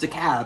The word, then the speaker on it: DeKalb: Moving on, we come to DeKalb Avenue, pronounced "DeKalb" in Atlanta. Kind of confusing, I know.